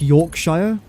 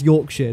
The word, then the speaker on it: Yorkshire: Often when people try and pronounce like British places, they always say shia like Yorkshshire. It's Yorkshire, not Yorkshire.